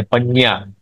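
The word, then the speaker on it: पञ्ञा: पाली भाषा में प्रज्ञा पजा कहते पजा पाली भाषा का उच्चारण है ये वो है प्रज्ञा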